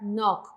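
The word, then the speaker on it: 넋: Aquí se pronuncia la kyok, la shiok se omite. Entonces, se va a pronunciar nok, con K, ¿sí?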